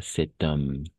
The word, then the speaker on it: cet homme: cet homme n'est-ce pas et on va faire la liaison n'est-ce pas cet homme voilà très bien homme